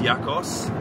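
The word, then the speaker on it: Jakos: Jack is Yakos, because they don't pronounce the J. Yakos, right? It's a Y, right?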